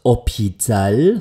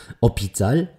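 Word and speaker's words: hôpital: linken Seite habe ich mein stummes Haar in dem Wort opital heißt übrigens Krankenhaus vielleicht sagt euch im englischen Hospital vielleicht auch was opital opital ja und jetzt heißt es eben nicht a opital sondern ich spreche das n aus und lasse es hineinfließen und damit wird daraus anopital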